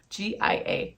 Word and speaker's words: Gia: one the Gia zipper God I was pronouncing that wrong the whole time finally heard somebody say it g g i a g the Gia zipper um I wanted to